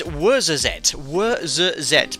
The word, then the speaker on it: Ouarzazate: It's Ouarzazate, but spelt with an O, lots of Z's, ending in an E.